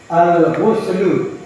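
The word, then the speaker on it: الغسل: Nah, jadi dari segi membacanya, kalau sudah masuk alif lam, maka tanwinnya itu akan berubah dia. Jangan dibaca al-ghuslun, terdengar terdengar.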